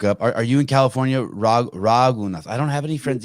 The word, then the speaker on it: Raghunath: Raghunath. Oh, I'm not even saying it right. Raghunath. I only listened to it 100 times before I came on yesterday. I still can't get it. Raghunath.